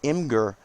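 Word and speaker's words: Imgur: I recommend Imager, that's the proper pronunciation, for people that are going to be doing GIFs.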